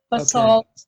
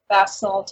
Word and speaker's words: basalt: say this the uh the basalt or bassal columns that I pronounce that right right B salt in America bass salt in England okay bass all so they